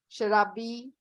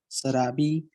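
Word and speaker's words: शराबी: sharabi. Sarabi. It's not sarabi. It's okay. Okay, ma'am. Shalgam. Say shalgam. Salgam. No, it's not salgam. Work on the sh sound.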